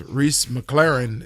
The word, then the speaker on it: Rhys McLaren: did you just say mclean with an australian accent you tried to put some type of accent on the first guy's name uh because rhys mclaren is how even he said it and the british guy